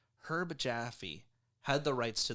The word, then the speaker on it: Herb: at one point producer Erb Jaffe had the right herb herb Jaffe you have to remember that you have to pronounce the h when it's a person herb Jaffe had the rights